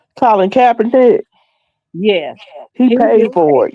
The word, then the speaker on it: Colin Kaepernick: This did the autopsy on the guy that Colin Tabernacle, I guess how you pronounce his name. Last year, September. How you pronounce his name? Colin Kaepernick.